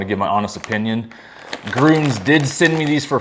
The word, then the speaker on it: Grüns: You pronounced it Gruns, not Gruns.